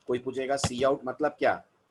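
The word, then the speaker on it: cout: और पूरा नाम पढ़िएगा, है ना, सी आउट और सी इन पढ़ना है, काउट किन नहीं पढ़ना है। मैंने बहुत सारे बच्चों को देखा है काउट किन पढ़ते रहते हैं इसको, ये नहीं है इनको प्रोनाउंस करने का तरीका। The better way to pronounce them is सी आउट एंड सी इन।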